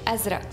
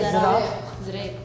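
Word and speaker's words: أزرق: Like we say azra, they say azraq, they say zraq, zraq.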